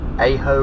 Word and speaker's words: Aho: Now, a little interesting thing here to the right, this is Aho Road. It's A-H-O is how it's pronounced.